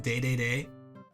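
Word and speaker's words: Dedede: did you know DDD was supposed to be pronounced day day that's just because of Japanese for Medics because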